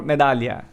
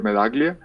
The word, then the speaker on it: Medaglia: prefer medaglia itself or medallia like in italian anand it's it's just um i i normally pronounce it as it sounds in spanish so i go for melaglia but either way it's